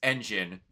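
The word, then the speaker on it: Enjin: Like uh like uh one of the one of the main characters in Gachauda, his name is Engine. E N J I N. It's spelled engine like a car.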